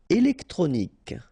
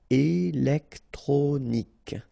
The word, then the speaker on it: électronique: Électronique. Okay, so k at the end. Remember Q-U-E at the end. K. Électronique.